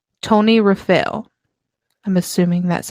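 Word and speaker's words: Tonyrefail: in a place called Tony rafit I'm assuming that's how you pronounce it hopefully he said in parenthesis sounds like Tony rafale so hopefully I'm correct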